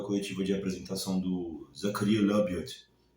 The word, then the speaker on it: Labyad: Mas eu queria falar um pouco da coletiva de apresentação do Zakaria Labiot, e é assim que eu pronuncio o nome dele, né? Segundo ele mesmo.